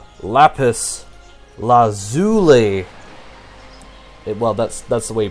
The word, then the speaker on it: lazuli: The way you pronounce lapis lazuli... well, that's the way you pronounce it. So, yeah, lazuli. Not Zulu. Lapis lazuli. It's lazuli.